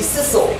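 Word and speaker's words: scissel: And so the stuff that ends up when you do the sissing, S-C-I-S-S, is the sissel, S-C-I-S-S-E-L. It sounds like jingle.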